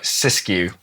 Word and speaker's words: Siskiyou: So specific about this model, the I've got to pronounce it right, Siskiyou. Yeah, Siskiyou.